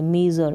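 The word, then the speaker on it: measure: अब ये जो एस है ना, इसको आप झ नहीं प्रोनाउंस करें, आप ज प्रोनाउंस कर दें, मेज़र, मेज़र, मेजर कर दें, ज ये प्रोनाउंस करते हैं, या फिर झ प्रोनाउंस करें तो साइलेंटली इसको बिल्कुल जेंटली हल्का सा इसको साउंड दे, मेजर, मेजर, ये इसका प्रोनाउंसिएशन है, ठीक है।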